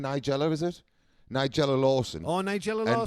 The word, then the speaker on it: Nigella: This is how do you pronounce her name? Nigella, is it? Nigella Lawson.